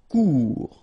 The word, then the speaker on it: Court: Final T not pronounced. Court.